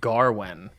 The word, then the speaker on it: Gawain: I have to say, I think most of the actors in the film pronounce it Garwen. And I was like, that's such an interesting way to pronounce that, the A in this name, because I've never said it that way in my entire life.